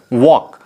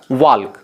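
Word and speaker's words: walk: अगर हम एक और चीज़ लिखें यहाँ पे वॉक, तो यहाँ पे एल क्या है, साइलेंट है, वॉक, एल यहाँ पे नहीं होगा। लेकिन अगर हम इंडिविजुअल देखें तो क्या हो जाएगा, वाल्क, जो कि गलत है।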